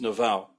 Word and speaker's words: Naval: And you'll see him, his handle is @naval, like naval base, but it's pronounced Naval.